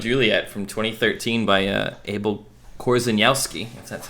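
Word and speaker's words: Abel Korzeniowski: yeah romeo and juliet from 2013 by uh abel korzanowski that's how you say it this one's often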